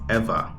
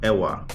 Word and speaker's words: Ewa: An important thing to know, EWA is pronounced ever, not awa. Yes, I know there's a W, but in the Hawaiian language, the W is pronounced as a V, as in the word havi, not Hawaii.